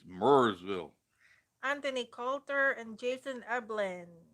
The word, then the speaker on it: Marysville: go or maryville yeah marysville ohio give them grief like we say i i mean it's spelled m-a-r-y marysville but up here it's mersville anthony coulter and jason